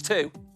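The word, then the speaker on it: trois: say isn't it yes you make the r sound at the back of your throat and listen to the W sound next up four cat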